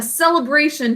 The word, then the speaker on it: celebration: The 2nd syllable is unstressed. It's muffled.